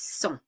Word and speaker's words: sont: And ils or elles sont, don't pronounce the T. And you make the O kind of nasalized.